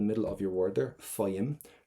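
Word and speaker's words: faighim: Faim. Do not pronounce that GH.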